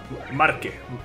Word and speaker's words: Marque: Marque, Mark, se pronuncia Mark. La E en francés, si no está acentuada, no se pronuncia.